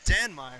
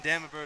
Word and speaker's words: Danmeyer: Is that how you pronounce his last name? Danmeyer. Who? Okay, I've been saying Damenber the whole game, so an apology there to the Danmeyer family.